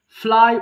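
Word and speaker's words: flew: ফ্লাই উড়ানো, ফ্লাই, এরপরে কিন্তু ফ্লু হবে, আমরা সারা জীবন ভুল করে ফ্লিউ বলে বলে আসছি, এটা হবে ফ্লু, ফ্লু।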